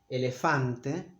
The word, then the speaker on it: elefante: The vowels are very clear, are always the same. Elefante. It's not elefante, but elefante. English native speakers tend to make a diphthong here, but I know it's because they don't have words ending in e or o, so they usually say a, o.